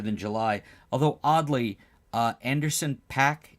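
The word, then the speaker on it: Anderson .Paak: July although oddly uh Anderson pack is that how you say his name yes he has a chest tattoo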